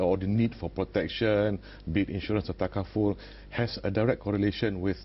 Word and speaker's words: takaful: We don't get people mispronouncing takaful as tafakul, for example.